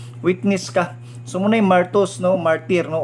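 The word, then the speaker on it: μάρτυς: So pagbasa siya is pronunciation niya is martus. M-E-R-T-O-O-S, martus.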